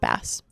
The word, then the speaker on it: bass: Also, who decided that the fish only is just um pronounced bass and not base?